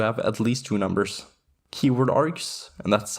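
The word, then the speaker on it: kwargs: keyword args and that's how it's pronounced by the way. The kw stands for keyword works very similarly to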